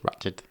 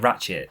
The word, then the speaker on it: Ratched: Ratched. I've been saying Ratchet my entire life until that program was released.